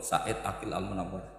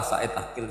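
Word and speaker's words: Said Agil Al Munawar: profor Said Ail almunawar memang bacanya harus urut Said Ail almunawar karena sekali salah saidil Sirat sebetulnya engak apa-apa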